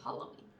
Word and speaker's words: Halloween: Halloween. I like how you say it better. I'm retraining myself. Halloween. Hall. Halloween. It is Hall, though. I mean, or Hal, I guess. But there's two L's, like Hall.